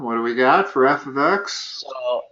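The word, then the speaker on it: f(x): okay so f X well the that is pronounced f of X f of X and it's not multiplication that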